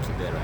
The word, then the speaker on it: Kibera: Kibera, yes.